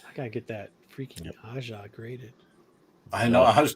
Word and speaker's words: Aja: David Aja is the big dog. Is that right? Am I saying it right? Yeah, you're saying it right.